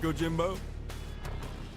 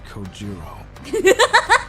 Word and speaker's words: Kojiro: Get it, Gojimbo? The way he deliberately mispronounces my name really bothers me. It bothers me so much the anger boiling inside me gives me the strength to open my mouth once more. It's Kojiro.